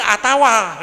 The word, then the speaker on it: atau: Orang Indonesia itu keliru dibacanya atau karena harfiahnya alif ta alif waw. Jadi dibaca atau, padahal yang betul itu atawa gitu tuh.